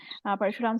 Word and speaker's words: Parshuram: Parshuram sir, sorry, I mispronounced your name. Parshuram Yeah.